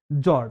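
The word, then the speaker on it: fjord: जॉर्ड काय म्हणतात त्याला जॉर्ड स्पेलिंग काय त्याची एफ जे ओ आर डी एफ असणार प्रोनाउन्सिएशन या ठिकाणी सायलेंट आहे म्हणून त्या ठिकाणी त्याला फ्लॉज म्हणायचं नाहीये त्याला म्हणायचं या ठिकाणी काय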